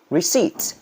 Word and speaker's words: receipt: you have bought ใบเสร็จ receipt ไม่ออก silent p receipt silent p yeah mayonnaise อันนี้ทับศัพท์ใช้บ่อยเลยเนาะ mayonnaise delicious as well.